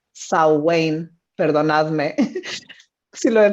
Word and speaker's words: Samhain: cuando se celebraba antiguamente lo que leemos en español como samhain pero que se pronuncia show wayne perdonadme sí lo he